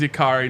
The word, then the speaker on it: Yakiri: I asked Yakiri before the show how to pronounce his name, and it is Yakiri, not Yakiri.